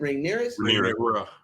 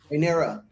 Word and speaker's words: Rhaenyra: How do you pronounce it? Rhaenyra. Rhaenyra.